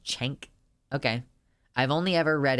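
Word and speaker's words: Cenk: can have an opinion it's pronounced chank okay I've only ever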